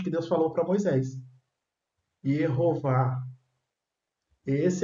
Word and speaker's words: Yehová: Conforme ele bateu no papo, ele falou Yehová. Isso, Yehová. Então tá aí a exatamente.